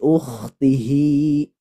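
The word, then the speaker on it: أُخْتِهِ: Keluarnya dia dari aqsal halqi atau dari pangkal tenggorokan. Tidak ada hubungannya sama sekali dengan dada. Makanya dibacanya khofa. Tidak boleh takalluf atau berlebih-lebihan. Harus lembut saja. Li ukhtihi, seperti itu.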